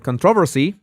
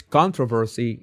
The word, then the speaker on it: controversy: I I I know that the British is controversy uh and the American is controversy of the opposite.